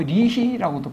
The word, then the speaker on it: 여희: 그 여희라는 사람이 있었는데요. 여희 뭐 리희라고도 발음하기도 하고 그래서 여희 예?